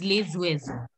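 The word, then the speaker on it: les oiseaux: This word was uezo is starting with a vowel O. So that's why we are saying it S becomes Z. We link the word and it becomes lezuezo.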